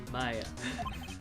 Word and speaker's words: Maya: Excuse me, You know, but Maya is not pronounced like mayo. who are you? Maya.